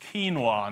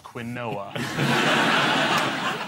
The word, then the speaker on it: quinoa: a recent speech that it is what pronounced quinoa not Quinn Noah impossible to talk while